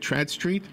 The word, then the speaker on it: Tradd Street: So as you are writing another story in the Trad, am I saying it right? Trad Street? Yes.